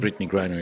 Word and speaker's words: Brittany Griner: Okay, to get the question, and that is Brittany Griner. I think that's how you pronounce her Yes, name. Brittany Griner, yeah.